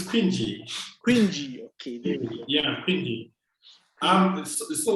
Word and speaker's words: Kwingy: fall hands what's the problem what's the proper pronunciation so we can get it right um it's cringy cringy okay yeah um so what prompted pinji